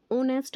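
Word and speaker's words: honest: देखिए ओनेस्ट होता है जो, वो बोलने में तो ओनेस्ट आता है, लेकिन हमें इसमें दिख रहा है कॉन्सोनेंट।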